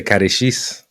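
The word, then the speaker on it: catéchisme: In French, they say catechisme.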